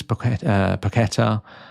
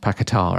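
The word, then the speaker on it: Paquetá: Lucas Pakqueta, I think it's pronounced Pakatar actually.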